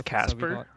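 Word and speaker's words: Kacper: are something wait inspire's real name is Casper makes sense best of luck with the rest of the games yeah thank you it's spelled really crazy too it's k-a-c-p-e-r that's cool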